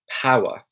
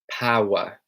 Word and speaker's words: power: to pronounce power okay so power is pronounced with quite a heavy W sound so power power now in the American